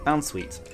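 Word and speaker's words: Bounsweet: for that um Bon boun is it boun boun sweet um that's how you say it boun sweet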